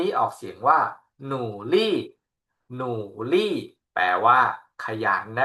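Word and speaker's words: 努力: ว่า หนู 2 คำ นี้ ออก เสียง ว่า หนูลี่ หนูลี่ แปล ว่า ขยัน นะ ครับ หนูลี่ ขยัน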